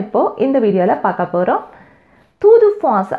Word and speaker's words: Tour de France: தூது ஃபாஸ் அப்படின்னு ப்ரொனவுன்ஸ் பண்ணுவாங்க ஃப்ரெஞ்சில்.